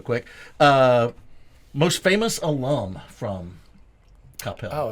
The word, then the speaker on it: Coppell: High school, went to Coppell. You said it right. Coppell. Coppell. What do you normally hear? Well, you hear people say Coppell or Capel.